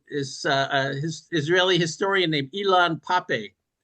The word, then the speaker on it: Ilan Pappé: And again, my favorite guy to go to is his Israeli historian named Ilan Pappé. He kind of has Elon Musk's name, but I think it's spelled differently. It's Ilan Pappé, Pappe.